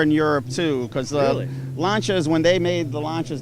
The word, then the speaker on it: Lancia: So this is a 1970 Lancia. Here in the States, they pronounce it Lancia.